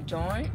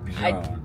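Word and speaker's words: Björn: No, the O is kind of like a grr. Bjorn. So how do you say it? Baby Bjorn. Baby Jorn? Bjorn. It's Bjorn. Not Baby Jorn. Baby Bjorn.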